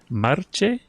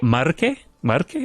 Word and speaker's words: Marche: Marche. Pesaro Marche. Marche.